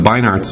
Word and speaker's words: Beinart: for Hamas, then the Beinarts will dutifully pop up to introduce us to the newly peaceful Hamas and the same old intractable Israel. I think it's Beinart, by the way. I've been mispronouncing it.